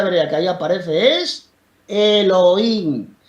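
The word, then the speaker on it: אלהים: la palabrita Dios es la 430, que se pronuncia Elohim, que significa dioses en sentido ordinario o también el Dios supremo, pero sí que puede significar dioses esa palabra tiene dos significados.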